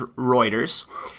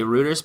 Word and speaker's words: Reuters: This is Reuters. I like to say Reuters, but I think you're supposed to pronounce it Reuters.